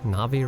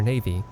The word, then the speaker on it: Navi: And I'm pretty sure I pronounced that correctly, Navi, right? Cause I went most of my gaming life calling her Navy.